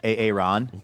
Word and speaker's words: Aaron: Aaron says Aaron is pronounced Aon, of course. Key and Peele style.